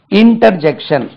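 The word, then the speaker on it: interjection: இணை இடைச்சொல் அல்லது இடைச்சொல் இன்டர்ஜெக்ஷன் inter Jackson இது ஜங்ஷன் இல்ல ஜெக்ஸ் ஜே இசி டிஐ o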